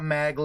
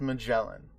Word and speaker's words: Magellan: who my pirate is named after its not maggle again I know you guys I know that's the meme but it's pronounced Magellan and um so I'm talking it's a BAE